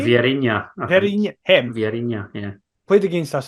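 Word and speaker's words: Vieirinha: So, POAK forward, and I've never known how to pronounce his name, despite knowing him for about 10 years. POAK forward, Verina. Is that how you say his name? Vierinha.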